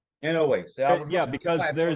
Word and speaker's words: Inoue: It is in a way. Inoue.